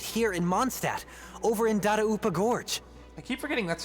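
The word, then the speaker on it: Dadaupa: are still right here in monstat over in darupa Gorge I keep forgetting that's how you pronounce that data UPA since you guys are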